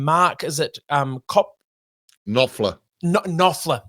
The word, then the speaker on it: Knopfler: flash, written because old mate, now I can't pronounce his last name, Mark, is it Knopfler. Knopfler.